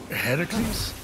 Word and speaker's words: Heracles: So, Phoenix, after boldly besting the Gorgon that ambushed Heracles... What are you doing there, that thing with your voice? Heracles? Yeah, that! That is how it's supposed to be pronounced.